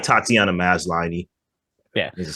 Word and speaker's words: Tatiana Maslany: Some people say, it's kind of dumb, but I'm like, I like Tatiana Maslany.